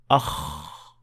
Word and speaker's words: خ: To understand what I mean, try touching your throat when pronouncing the Kha sound. You should feel no vibration whatsoever, since you should not be using your vocal cords. Akh, akh.